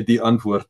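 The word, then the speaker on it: Die Antwoord: We would say D'Antwoord. That's how we'd pronounce it.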